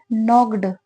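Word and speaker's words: knocked: वह वहां गई एंड नॉक्ड एंड मतलब और और यह क्या वर्ड है के एन ओ सी के ई डी नॉक्ड ठीक है के साइलेंट होता है इसमें नॉक्ड का मतलब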